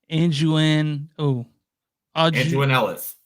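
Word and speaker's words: Aunjanue Ellis: Anjuan Ellis.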